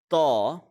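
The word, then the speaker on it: ط: So the first letter which we are going to learn is the letter Taw.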